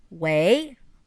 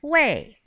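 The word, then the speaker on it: 喂: chinese for ring ring says way or way way or both pronunciations are fine it's hello hello on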